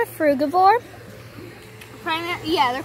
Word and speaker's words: frugivore: It's called a frugivore. Yeah, they're called frugivores.